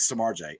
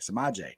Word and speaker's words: Samaje: how how good is samarjay it's my Jack gotta say his name right samaje how good is he